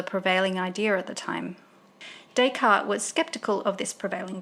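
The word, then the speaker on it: Descartes: how to pronounce dayart dayart is pronounced dayart dayart was French so we pronounce d s as day and the final s is silent okay french lesson is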